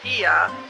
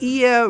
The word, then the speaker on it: Oia: as they are in Ia. The Oia is pronounced with an “E.” Back on board, I would like to come back and try to get to Ia. This time in Santorini, I learned Ia really takes planning —